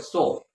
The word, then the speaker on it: Seoul: she went there for some research study in the University of Seoul that is the capital of South Korea spelled s-e-o-u-l but pronounced as so okay so like that